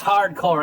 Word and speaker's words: H.A.R.D.Corps: my 1990s valiant comic book collection hardcore it's pronounced hardcore amg you'll have to excuse him it gets